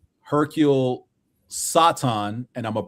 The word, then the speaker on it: Satan: Hercule Satan. And I'mma pronounce I'mma use the Japanese pronunciation, not the western pronunciation.